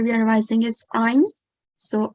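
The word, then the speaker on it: ع: we pronounce i incorrectly the correct way to pronounce it is to pronounce it from the middle of the throat and it is one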